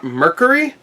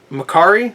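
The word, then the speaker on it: Mercari: I got this for $10 on Mercury and Macari. I still call it Mercury. I don't care. Macari.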